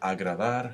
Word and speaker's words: agradar: This fricative sound is also a present when there's a consonant cluster. So the verb to open is pronounced abrir, mother, madre. And the verb agradar, how does that sound? Agrada. Exactly. Again, with fricative sounds.